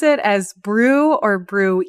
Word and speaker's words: BRUE: But I think the the main reason why the committee decided with brew rather than brewy is we already brewy